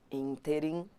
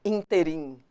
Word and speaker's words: ínterim: Ínterim é pronunciado assim. Ínterim. Ínterim. E não interim. Se a pessoa não souber pronunciar, também vai errar. Ínterim. Tem gente que fala, naquele interim. Não é no interim, é no ínterim.